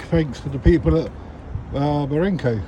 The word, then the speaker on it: Barenco: I'd like to say a big thanks to the people at Barenco, that's how you pronounce it.